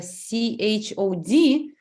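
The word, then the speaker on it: Chöd: it's interesting because it's it's a c-h-o-d but I think that you pronounce Cho you don't say the Cho and uh I want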